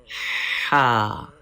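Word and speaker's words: ح: Ha is pronounced from the middle part of the throat. Please read ha with clear and soft sound.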